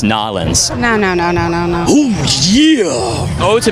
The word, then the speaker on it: New Orleans: It's actually pronounced Nolens.